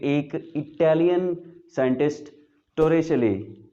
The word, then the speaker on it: Torricelli: कि एक Italian scientist टोरेचले, ये उसका इटालियन है और इसकी प्रोनाउंसिएशन इस तरह से होगी टोरेचले, ये उसने हमें दिया था.